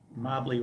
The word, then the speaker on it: Mobly: I say probably Mobly because Mobly rhymes with probably.